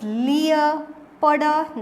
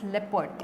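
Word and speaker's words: leopard: इट्स लियर पडर नहीं है। लियर powder नहीं है। इट्स लिपड एल ई ओ पी ए आर डी लिपड।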